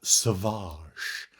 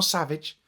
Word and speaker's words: Savage: It's pronounced sauvage. Sauvage Opress. Not savage. Not savage Opress. Sauvage.